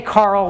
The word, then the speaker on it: Karel: named after Carol and some people say Carl which is kind of actually closer do I believe it